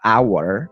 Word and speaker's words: hour: Semisal nih ada contoh a hour atau an hour. Nah, di situ ada tulisan H tapi kan bacanya A. Hour, maka itu adalah vowel sound, suara vowel.